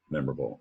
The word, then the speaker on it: memorable: Down below, the stress is on the mem or able.